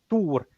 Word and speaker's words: Tor: Uh, Ah, yes, I used the more Swedish pronunciation of Tor, Thor, Tor.